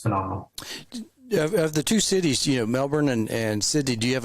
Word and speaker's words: Melbourne: He even pronounces it Melbourne. Yeah, I know. Yeah. Yeah, he doesn't lean into the R like most Americans. He just goes for it. Melbourne.